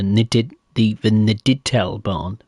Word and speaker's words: Niedertalbahn: Or the Niedertalbahn.